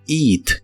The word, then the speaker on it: eat: Y usaremos el verbo eat, que significa comer. Se pronuncia con un sonido de la I larga o doble.